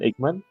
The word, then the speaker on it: Eichmann: ¿Lo pronuncié bien? ¿Eichmann? Ajá. Ajá, Eichmann.